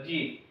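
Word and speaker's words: 十: मतलब कि झा की सीरीज का सेकंड लेटर जी तो जी को हम लिखने वाले हैं ये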